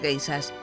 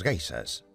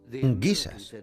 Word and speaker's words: geishas: Los soldados oyeron hablar de las geishas, guisas, como ellos pronunciaban, y creyeron que las chicas que se acostaban con ellos en los parques eran guisas.